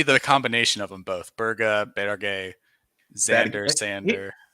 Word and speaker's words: Berge: Berga, Berge, Xander, Sander. For the last time, he has said Berge multiple times, and that's why I say Berge.